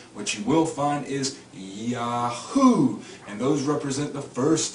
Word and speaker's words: Yahweh: men, get the pronunciation Yahweh from. Now in this I-A-O-U-E you will find no W. There is no W sound. What you will find is Yahoo, and those represent the